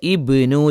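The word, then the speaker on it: ابن: അടയാളങ്ങൾ കാണുമ്പോൾ നമ്മൾഅത് മനസ്സിലാക്കേണ്ടത് അവിടെ തുടക്കത്തിൽ ആണെങ്കിൽ അതിന എന്തുണ്ട് നമ്മൾ ഉച്ചാരണം കൊടുക്കും എന്ന് പറഞ്ഞാൽ ഇവിടെ ഇബ്നു എന്ന് വായിക്കണം ഇവിടെ എന്ത് ചെയ്യണം തുടക്കമാണ് ആദ്യത്തിൽ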